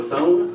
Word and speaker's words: Thone: Thawn, 11 West Street. I'm sorry. Could you repeat the name again? Thawn 11 West Street. It's a long o everybody does.